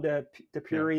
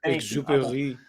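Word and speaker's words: Exupéry: From Antoine de Puri, if I'm pronouncing it right. Thank you. Exupery. Tu es more français que moi.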